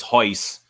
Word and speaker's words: Royce: Hoist, yeah, you don't pronounce the R, so it was Hoist.